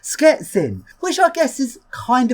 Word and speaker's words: Szczecin: Previously I visited this place, which I thought was pronounced Szczecin, turns out it's actually pronounced Szczecin, which I guess is kind of close, but